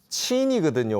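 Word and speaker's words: 秦: 이게 차이나라고 하는 거는 이 친이거든요. 원래 발음 친이거든요.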